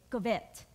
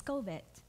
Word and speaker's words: covet: You know, I grew up saying it, covet. And my husband's like, "That's not how you say it. It's covet."